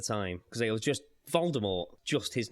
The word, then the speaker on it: Voldemort: Rowling previously stated that the T in Voldemort is silent as is in the French word for death more Jim Dale pronounced